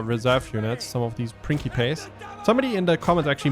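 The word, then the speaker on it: principes: Some of these Prinkypace, somebody in the comments actually mentioned that my pronunciation of prinkypes was originally actually correct because in classic Latin,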